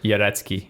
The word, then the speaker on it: Jarecki: I would say Jarecki.